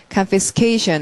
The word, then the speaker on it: confiscation: 동사들은 다으로 명사가 되니까 자 발음하면 confiscation 에서서 강세 두 번 들어가겠죠 제 1 강세는 케이션이 제 2 강세가 confiscation 이렇게 그다음에 어 압수 하다로